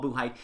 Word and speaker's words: Buchheit: That's how to pronounce his last name, Paul Buchheit.